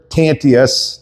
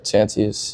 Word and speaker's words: Tantius: In studio with me tonight, I got Zander Tantius. Did I pronounce that right? Yeah, Tantius.